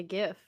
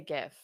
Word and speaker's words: GIF: that the um like gifts like like online oh the yeah I'm sorry um no I say it like a gif yeah I say GIF yeah but technically it was supposed to be GIF which I think is